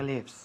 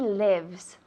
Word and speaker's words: lives: I know where he lives. Muy bien. I know where he lives. Lives, no. Lives. I know where he lives. Lives son las vidas. Lives, vive. Lives.